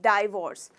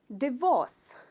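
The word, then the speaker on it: divorce: इट्स नॉट डाइवोर्स, डिवोर्स, डिवोर्स। इसमें आप ये इस पार्ट को स्ट्रेस करते हो, डिवोर्स, they got अ डिवोर्स, उनका तलाक हो गया।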